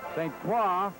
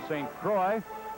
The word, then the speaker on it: St. Croix: By the way, St. Croix, here in Philadelphia, they sometimes pronounce his name St. Croix. The correct French pronunciation is St. Croix.